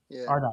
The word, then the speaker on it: Ardai: Ardai.